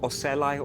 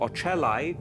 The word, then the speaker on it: ocelli: have got three lenses called ocelai or ochelli depending on how you pronounce it and also acell